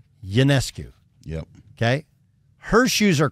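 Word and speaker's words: Ionescu: lot like this the Sabrina how do you pronounce it therec ycu y yancu yeah yes it's like a y yancu yep okay her shoes are crazy popular but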